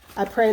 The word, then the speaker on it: Après: Apres Lundi, probably the S is silent. Après Lundi.